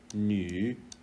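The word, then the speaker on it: 女: So this character is pronounced nu, and this character nu, and this character is pronounced nan, nan, nu.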